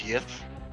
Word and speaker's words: GIF: It's pronounced meme and GIF with a hard G. Actually, according to Old English, it's yif. I'm with the mayor. I say GIF.